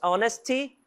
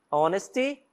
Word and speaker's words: honesty: Na maioria das vezes, as palavras que iniciam com H vai ter som de R. Então, na dúvida, arrisca um R ali, tá? Se você errar, não vai ficar tão feio. E certamente quem tá falando contigo vai te corrigir, se for o caso, mas ele vai entender também a sua mensagem, ok? Então nós temos honesty, honesty.